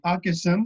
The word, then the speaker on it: Hockhoussen: reprises, mais je suis pas sûr de le prononcer ou de le lire comme il faut. Ouais, c'est Hawkinson, c'est H-O-C-K, OK.